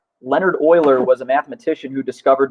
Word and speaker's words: Euler: many people think it's Euler it's actually not correct its Euler so if you were to pronounce it phonetically like the oil you put in your car Leonard Euler was a mathematician who